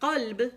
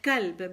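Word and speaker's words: قلب: So, kaf and qaf are the uvular consonants, which are, a lot of people, instead of saying qalb, which is hard, they end up saying kalb because they don't have the ability or they don't stress on themselves to say qaf.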